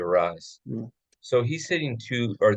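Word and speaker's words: Arraez: this guy's name right how do you pronounce it Lewis or Luis rise arise thank you arise so he's sitting two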